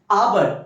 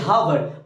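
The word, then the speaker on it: hour: जी एन हो जाएगा आवर एच यहां पर क्या है साइलेंट है तो आवर की हावर आवर ओ से ओ ओ में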